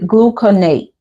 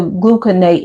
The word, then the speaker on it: gluconate: Um, Lord Dwayne is GLUCONATE. I believe gluconate. I believe that's how you pronounce it.